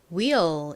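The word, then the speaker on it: wheel: 첫 번째 단어 바퀴부터 써보겠습니다 바퀴가 영어로 뭐였죠 will 이죠 will 한국식으로는 휠이라고 하는데요 철자는 가장 앞에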